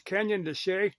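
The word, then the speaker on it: Canyon de Chelly: that you mentioned was it's spell shell but it's Canyon desay that's only way I ever heard pronounced is K to like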